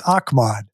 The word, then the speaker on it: Ahmad: ago Ahmad Rashad said the only guy to pronounce my name correctly is Bud Grant it's Ahmad is that crazy well